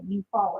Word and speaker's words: Eufaula: I'll be right back it's spelled e-u-f-a-u-l-a you follow it's an easy thing foreign foreign thank you